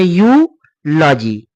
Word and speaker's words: eulogy: अगला वर्ड है EULOGY, इसे पढ़ेंगे यूलॉजी। तो यह था आपका ई के उच्चारण का नियम।